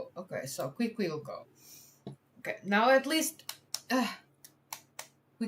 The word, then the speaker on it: Quiquilco: Alright, so pre-Hispanic and contemporary equinoctial alignments confirmed in Kukulco, or Kikilco. How? Look at me struggling today. How to pronounce whatever. Quiquilco. Okay, so Quiquilco.